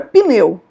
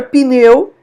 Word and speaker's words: pneu: eu falo por exemplo a palavra pneu palavra pneu o p é mudo né em hebraico E